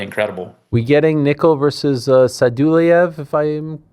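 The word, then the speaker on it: Sadulaev: We getting Nickal versus Sadulayev, if I'm pronouncing that correctly? Soon? Yeah, Sadulayev.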